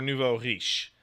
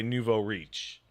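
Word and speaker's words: nouveau riche: close enough is it is it pronounced Nuvo rich or Nouveau hish well okay it's pronounced in French but none of you are going to roll your R like that so you could say Nuvo reach really I yeah you can say that too like it's a loan term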